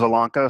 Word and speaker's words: Zielonka: the washington times and I'm proud of myself for pronouncing your name correctly by the way I didn't ask you beforehand I never would have been able to do it I would have butchered it but it's one of those things doesn't it doesn't sound like it looks so we both we